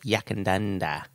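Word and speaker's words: Yackandandah: How do you pronounce it? Yakandanda.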